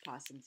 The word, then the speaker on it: opossum: possum with the opossums which is really pronounced possums even though it's spelled with an O that's a possum and